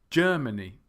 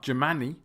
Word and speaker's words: Germany: with the first 3, the syllable stress is on the first syllable, Germany. It's not Germany, and it's not Germany.